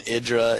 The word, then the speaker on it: IdrA: mr hydra you pronounce it i draw i pronounce it idris yes i mean i've heard it i've heard it both ways i heard like day nine call him idra and i've heard different people call him idra it's i don't know what it is what